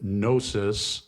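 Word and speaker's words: gnosis: from the Greek word nosis the g is silent it's spelled g n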